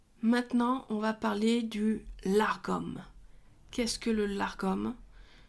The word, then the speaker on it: lagom: on va parler du largom qu'est-ce que le largom c'est aussi la prononciation la bonne normalement sinon ça s'écrit la Gom l a g o